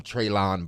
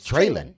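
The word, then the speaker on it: Treylon: Burke's name wrong traylon they will call him treyland Birds which is what you're saying is wrong which I believe it it's trailing Yes trailer mode he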